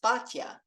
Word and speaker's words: Bitya: identify Pharaoh's daughter's name, Bitya, sometimes pronounced Batya, which means daughter of God.